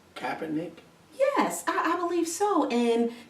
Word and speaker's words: Kaepernick: Right here and right now, what's current is Colin, and how do you pronounce his last name? Kaepernick?